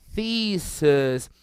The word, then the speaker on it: thesis: Repara que a pronúncia é um pouco diferente desse IS, não é um I forte, ó, fica analysis, crisis, thesis, é um I mais seco, quase que um E.